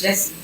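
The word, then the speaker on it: Gyasi: E you know it it's almost like they're saying Jesse you you know what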